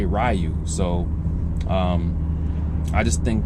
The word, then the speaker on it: Ryu: they if they if they mistakenly said rayu well actually I I wouldn't even consider that a mistake because that's just how we've been pronouncing his name ever since you know we start playing Street Fighter so um yeah it's rayu in America it's rayu now if you're in Japan you speak in Japanese then you change it